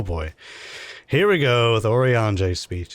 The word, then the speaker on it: Urianger: Yuri Anger? No, Urianger.